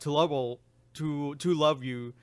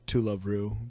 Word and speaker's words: To Love Ru: I think I might mention this again, but to love you is a good one. I mean, Oh my God, is that how you pronounce it? it's I pronounced heard different. it's called To Love Ru, but To love it's you, the- to love